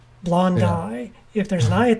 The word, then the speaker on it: blondi: pronounces latin names wrong i got mocked relentlessly by biology professors when i first got to college because i was saying like theraphosa blondie or bracapalma hamori now it's blondai if there's an eye